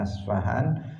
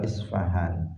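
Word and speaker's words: اصفهان: Ada yang membacanya Asfahan atau Isfahan.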